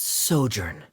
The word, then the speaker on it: sojourn: Ah, that's sojourn. It means to stay for a while.